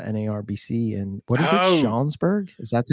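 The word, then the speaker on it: Schaumburg: was the uh narbc and what is it shaunsburg is that's how you say it yeah yeah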